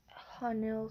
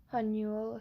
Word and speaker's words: Hanul: You really must be out of it, Hanil said. Hold on, that's not how you say it correctly. Hanul said.